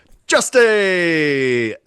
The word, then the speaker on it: Justy: So we've got Justy, as Martin corrected me earlier, pronounced Justy.